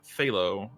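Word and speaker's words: Zalo: or famine and then phthalo um it's spelled z-a-l-o but z's are th's basically um phthalo is dizzies or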